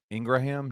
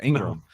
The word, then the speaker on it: Ingram: Wait, Ingraham. No, it's not. Oh, Jared said, "Is it not Ingraham?" No, it's Ingram. Yeah. Sometimes I Sometimes that H is silent, boys.